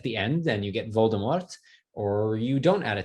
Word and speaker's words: Voldemort: it turns out um the author has been caught on tape saying voldemort and yet she insists that it should be pronounced voldemort um but what this